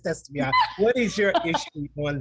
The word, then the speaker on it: Estefania: Please, but it's Estefania.